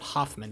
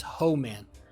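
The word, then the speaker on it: Hohman: It's not Hoffman. It's Ho Man. H O H M A N. Ho man. It's a very distinctive hoe. It is ho man. That's how you pronounce it.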